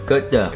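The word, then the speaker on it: Côte d'Or: Côté d'or. ¿O cómo se pronuncia? Côté d'or. Como hot dog.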